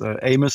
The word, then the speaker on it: AMES: You are the founder of the AMES Foundation. Do I pronounce that correctly? Yes, well, you do. We always refer to it as AMES Foundation, and AMES stands for Africa's Most Endangered Species.